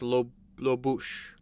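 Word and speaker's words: Lobuche: I think it's pronounced Lobosh.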